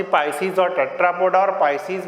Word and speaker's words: Pisces: पाइसीज मतलब जिसमें सारी फिशेस आती हैं, पिसीज भी कहते हैं, अदरवाइज पाइसीज मैं प्रोनाउंस करता हूँ, पाइसीज और टेट्रापोडा।